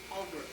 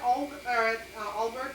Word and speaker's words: Aalborg: Aalborg. And then Laura But that's Anderson. Denmark too, though, remember? Oh, how about, yeah, I got that. But Laura Anderson Nielsen, she was born at Aalborg too?